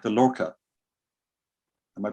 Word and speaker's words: Lorca: Catherine Green says, I really like the Lorca. Am I pronouncing that right?